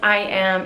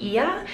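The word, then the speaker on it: Oia: I am in Santorini, and today I am going on a boat tour in a classic Greek style boat.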